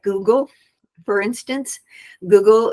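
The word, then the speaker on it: guggul: like Google for instance Google is a um it's spelled gu GG L unlike our Google on the internet and it is an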